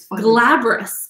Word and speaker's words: glabrous: any leaf any leaf like tree or plant glabrous that's how it's pronounced glabrice okay well we all learned something